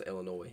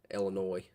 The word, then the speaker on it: Illinois: I know the uh S is silent. I don't know. I don't know how to pron pronounce Illinois.